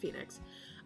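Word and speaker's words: Fae Nyx: about getting it um I named her Phoenix or Fey Nix f-a-e yeah NYX um let's pronounced Phoenix um I had her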